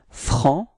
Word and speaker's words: franc: So masculine form is franc. So you don't pronounce the final C, okay?